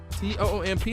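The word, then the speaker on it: Toomp: and LVM, DJ Tomp, T-O-O-M-P, how you pronounce that joint? Okay, it gotta be Toom.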